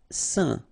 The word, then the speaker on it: saint: Saint. Okay, combination of A, I, N phonetically will give you this un pronunciation. Saint.